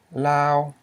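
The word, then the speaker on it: ລາວ: This is a high tone because you have a low consonant, o, plus a live syllable because it ends in a semi-vowel, o, ow, okay? And that's a high tone. So this word is pronounced as Lao, okay?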